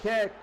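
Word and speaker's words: Kiick: name it's k-i-i-c-k but it's pronounced Jimmy kick kick as in kicked the ball first down 12-0 Miami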